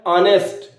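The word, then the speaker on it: honest: क्या है उसको देखिए पहले कहीं आप इसको नेस्ट तो नहीं पढ़ रहे अगर नेस्ट पढ़ रहे हैं तो गलत है क्योंकि इसका सही प्रोनंसिएशन है ऑनेस्ट आ ठीक है ऑनेस्ट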